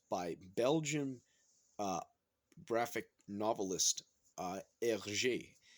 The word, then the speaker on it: Hergé: Belgian uh, graphic novelist Hergé. Is how you say it, okay? If you speak French, that's what it is Hergé.